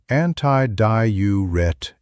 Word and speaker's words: antidiuretic: It's called antidiuretic hormone. Pronounced antiduretic.